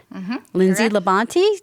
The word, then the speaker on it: Lindsay LaBonte: mortgage which is a branch of Harbor One Lindsay Labonte did I pronounce that correctly correct excellent so let's get